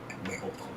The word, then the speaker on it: Nabokov: But that said, tonight, Vladimir Nabokov.